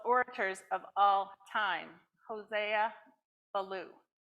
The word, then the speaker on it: Ballou: of all time Hosea Baloo we've been arguing about how to say his last name but we say Belo in America and something else in Spanish but Hosea is the